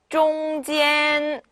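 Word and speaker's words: 中间: 일성이 두 개가 붙어 있으면 원래는 中间 네, 이렇게 읽어야 되는데 우리가 말을 배우는 거잖아요. 그쵸? 우리가 이제 대화를 하려고 배우는 거기 때문에 자연스럽게 앞에가 조금 짧고 뒤에가 길어야지 심호흡하기가 편하실 거예요.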